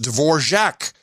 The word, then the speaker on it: Dvorak: tonight happy birthday John your last name is properly pronounced Dvorak like the Czech composer I can't get used